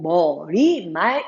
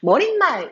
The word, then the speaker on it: 머리말: 잘못 파괴된 필히 있습니다 머릿말 이라고 발음을 하지 않구요 우리는 머리 말이라고 그대로 굳어 께 발음을 해 주시면 됩니다 경상 사람들이 아무래도 발음이